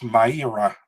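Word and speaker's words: Mayra: that you know that you have to pronounce it as my era i didn't know that i knew that since three three days okay this is my error but yeah it's not maria though i've seen some people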